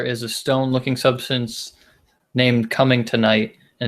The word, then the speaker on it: Cummingtonite: Did you know that there is a stone-looking substance named Cummingtonite, and it's named after Cummington, Massachusetts? Oh, but is it tonight? Like, It's actually it's spelled Cummingtonigt. Cummingtonite.